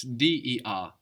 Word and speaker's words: der: That's D-E-R, der.